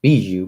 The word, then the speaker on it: Bijou: It's French. It actually is pronounced Bijou, but yeah.